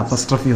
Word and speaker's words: apostrophe: இதுக்கு பேர் என்னன்னு கேட்டிங்கன்னா எல்லாரும் APOSTROPHE இதை வந்து அப்பாஸ்டர்ஃபின்னு உச்சரிப்பாங்க. இதனுடைய உச்சரிப்பு அப்பாஸ்டர்ஃபி, அம்மாஸ்டர்ஃபி, தாத்தாஸ்டர்ஃபிலாம் கிடையாது. இதனுடைய உச்சரிப்பு அப்பஸ்ட்ரஃபி. அப்பாஸ் சொல்லக்கூடாது, அப்பஸ்.